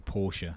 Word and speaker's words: Porsche: it porsche most people i know call it porsche but it's actually porsche it's the chronic pronunciation but i'm going to race in vr